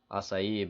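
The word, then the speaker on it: açaí: Like I think everybody remembers when the acai berry came out, acai berry. Sorry, that's actually how you say it, acai berry came out.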